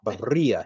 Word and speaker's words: birria: Haha, birria. You got to roll your R's.